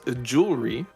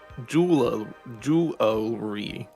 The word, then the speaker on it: jewelry: uh number five is jewelry which uh can be pronounced multiple ways uh with two syllables like jewelry or with three syllables jewel jewelry which jewelry jewelry can